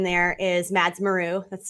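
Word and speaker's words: Mads Maru: on twitter um and my name there is mads meru that's spelled m-a-d-s-m-a-r-u um so i mean if you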